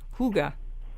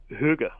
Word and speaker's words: hygge: spelled h y g g e but you pronounce it um in the language Huga you know h o o g h Huga